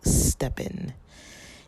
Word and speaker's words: STEPN: this app and it's called steppen if you haven't heard of it yet check it out it's spelled s t e p n the letter N um so basically it's